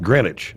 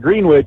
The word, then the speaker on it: Greenwich: But it's pronounced Greenwich. Yep. Okay. Greenwich. Yep. Just like just like Connecticut. It's Greenwich, Connecticut. It's not Green Witch.